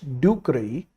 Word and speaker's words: ducreyi: D for ducreyi you got to remember, and pronounce this word like this: patients do cry.